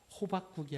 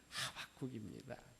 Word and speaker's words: 하박국: 발음을 잘해야 돼요. 호박국이 아니라 하박국입니다.이 이 하박국이라고 하는 이름의 뜻이 있는데 껴앉는 자라고 하는 말입니다.